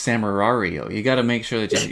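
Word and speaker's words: Samurai Wario: you say it it's samurario you gotta make sure that you hit the two r's you have to hit the two r's so it's nice sam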